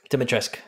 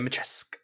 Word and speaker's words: Dimitrescu: Dimitrescu. The U is silent, I believe. Thank you. Dimitrescu.